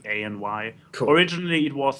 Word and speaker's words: AnY: Like Tom and AMY said. Is that how you say it? I feel bad. Yeah, and it's a capital Y, so it's ANY.